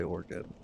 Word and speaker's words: Oregon: Really depends on where you you're from, how you pronounce it. Some people say orgon, some people say organ.